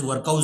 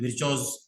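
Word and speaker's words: Virchow: that is called as विर्चॉज nodes, वो scientist का नाम है, और उसके दो प्रोनाउंसिएशन है, एकदम बहुत अमेरिकन एक्सेंट में आप उसको बोलोगे तो दैट इज वर्कआउज नोड्स, ऐसा भी बोलते हैं, और एशियन एक्सेंट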